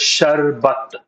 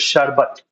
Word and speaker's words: sharbat: Well, it's in Hindi is pronounced as shbat. Anybody knows what is sharbat?